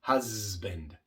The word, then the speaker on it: husband: Lo correcto es husband.